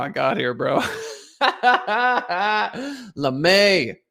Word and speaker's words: Lame: i got here bro lemay is how you pronounce it he's got 114 million